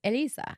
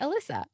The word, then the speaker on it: Elyssa: it's it's accepted because when a person is a native Spanish speaker the correct way to say my name is Elisa Alissa yes if you are a non-native Spanish speaker you would normally say Alysa if you're a non-native